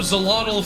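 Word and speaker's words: Xolotl: Oh, Zelottle from Aztec myth is spelled with an X.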